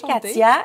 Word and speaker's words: Katia: Enchantée, Katia. Est-ce que j'ai bien prononcé?